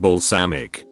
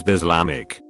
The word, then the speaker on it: balsamic: I once dated someone who pronounced balsamic, like the dressing, as Bislamic.